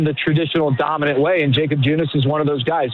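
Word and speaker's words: Jakob Junis: Okay, so it is Jacob Junice. Then, Jared, that's the correct pronunciation because Kevin has tried to throw out Yakob Junice.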